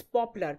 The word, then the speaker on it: poplar: and popular now lots of people you know pronounce popular as popular no that's not the word it's popular p-o-p-l-a-r so vesey temperate grasslands make grasses and